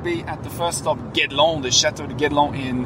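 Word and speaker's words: Guédelon: Juste la prononciation, c'est Guedelon.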